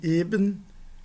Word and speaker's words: eben: E se eu digo e, isso é um adjetivo que significa plano. Pode ser também uma partícula significando justamente, mas de todo modo heben e eben é uma diferença não apenas de sons, mas também do significado das palavras, assim como ocorre na língua grega.